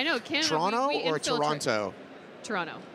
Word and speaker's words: Toronto: Toronto. Not Toronto? Toronto. You don't usually pronounce the last T.